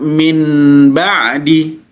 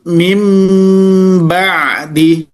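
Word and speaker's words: من بعد: Jadi cara membacanya tidak min ba'di, tidak pula didengungkan min ba'di, tidak diidharkan min ba'di, tidak diidghamkan min ba'di, tapi diiqlabkan, muncul huruf mim. Maka cara membacanya mim mim mim ba'di, mim ba'di, mim bukan min tapi mim ba'di.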